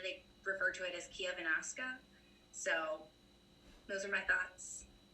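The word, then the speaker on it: Chiavennasca: know in baltalina they refer to it as kia venasqua so those are my thoughts you nailed the pronunciation of kiavenaska which is the the local word for nebula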